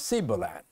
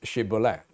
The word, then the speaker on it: shibboleth: up certain accent and they could not pronounce shibboleth and so with that